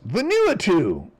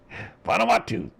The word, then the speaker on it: Vanuatu: Venuatu. Vanuatu. I learned how to say it. I mean, how many months was I saying Venuatu?